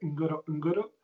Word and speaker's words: Ngorongoro: Y es el cráter del Ngorongoro, se escribe. Se dice como se escribe, Ngorongoro, y es en Tanzania.